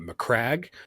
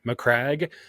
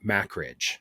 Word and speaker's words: Macragge: Fun fact, I didn't know how to say Macragge because I read it in books for 8 years until I heard someone else say it, and I go, oh. What did you say? I was pronouncing it Macridge.